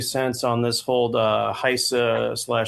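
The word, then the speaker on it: HISA: Point number 2 is I've been pronouncing Heise wrong the whole time. I listened to Lisa Lazarus, I believe, and she said Heise, and I've been saying Heise.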